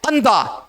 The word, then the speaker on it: अंधा: अंधा, अंधा, अंधा नहीं होता, अंधा। अनुस्वार का उच्चारण जोर देकर के किया जाता है।